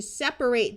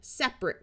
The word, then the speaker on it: separate: Here are some more examples where we have verbs with a long A sound and adjectives that schwa. I need to separate those two kids who are arguing versus my husband and I will drive in separate cars.